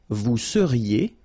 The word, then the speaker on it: seriez: Vous seriez. So here when you've got this Z at the end, then you get the sound E.